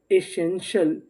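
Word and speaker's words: essential: नीचे वाली मीनिंग को पढ़ते हैं, ई, इसे पढ़ेंगे ए, और एस हमारा दो बार है, कितनी बार पढ़ेंगे, एक बार, और आगे ही EN, SN, TIAL, शल, एसेंशियल, एसेंशियल।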